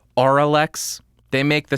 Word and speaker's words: Auralex: Because I said oral exciter, and apparently that's not how you say it. It's oral exciter, because oral exciter sounds like something way better than oral exciter. It's Auralex.